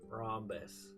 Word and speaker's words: rhombus: Rhombus. R-us. R-us. Okay. The H is silent.